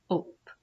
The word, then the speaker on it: hope: So this word is hope. Hope. Now remember, the E is silent after he pinches the vowel.